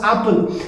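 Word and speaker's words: Appel: this particular village name is a double p e l but then pronounced as apple and the original brand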